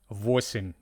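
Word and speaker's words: восемь: Okay, so sim sim 8 voim sounds like voice m.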